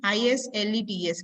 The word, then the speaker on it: islets: So these islets, IE, IS, LETS, where S is silent here.